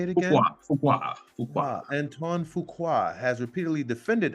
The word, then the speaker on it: Fuqua: Fuqua.